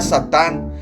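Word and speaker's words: שטן: adversario o el acusador la palabra Satanás proviene del hebreo y se pronuncia satán su significado etimológico está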